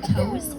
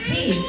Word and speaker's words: Toews: I wanted to get why your name's pronounced Toews when it doesn't have a V.